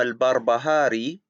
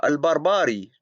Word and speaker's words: al-Barbahari: calls imam al-jawani al-juani he calls imam al-barbahari after calling him a great imam he calls him al-barbari twice he calls ibn hajj